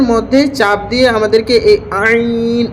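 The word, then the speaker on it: ع: আইন আইন আইন এই আইনটি আমাদের অনেকেরই আইন উচ্চারণটি হয় না তো এ আইন উচ্চারণটি মুখের সে অংশ থেকে বের করতে হবে যে মুখের গলার ভিতর থেকে আইন গলাটা একটু চাপ দিয়ে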